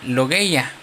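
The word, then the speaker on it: λογία: Es una palabra griega que se pronuncia logya, que quiere decir contribución, ofrenda o recoger ofrenda.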